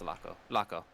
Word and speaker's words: Tlaco: Supposedly there was a man who went by the name Tlaco. No, that would just be pronounced Laco. But with a T in the front.